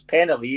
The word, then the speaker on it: Penley: Oh, but, so how do you say it? Sorry, is it Penley? It's Penley. It's an I. I'm trying to say it in the Glasgow accent.